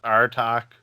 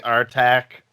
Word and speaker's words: Artach: i say the band name right well we pronounce it as our talk or our time people pronounce it it's our attack we we've heard it all really okay i